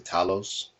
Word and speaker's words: Talos: to pronounce it call it tables but I pronounce the Talos this grow general title says anyways yeah he